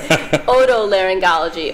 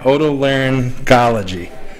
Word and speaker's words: otolaryngology: Otolaryngology. Oto means like ear. Okay. Otolaryngology.